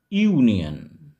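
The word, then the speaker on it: union: vowel দিয়ে শুরু হলেও ওয়ার্ডটি যেহেতু ইউ এই উচ্চারণ আসছে সেজন্য এখানে আমরা এন বসাবো না এখানে আমরা বসাবো এ ইউনিয়ন এখানে আমরা কনসোনেন্ট সাউন্ড পাচ্ছি একটি সূর্য আমরা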